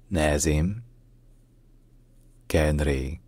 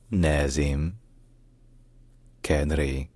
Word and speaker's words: Nazem Kadri: In Lebanon, in Arabic, his name is pronounced Nazem Kadri. Nazem Kadri. Nazem Kadri.